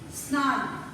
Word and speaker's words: snarl: Snarl. S-N-A-R-L. Snarl. Here R is silent, children.